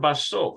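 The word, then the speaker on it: בסוף: It's either basuf or basof. Let's take a look at it. Basof. Yeah, at the end.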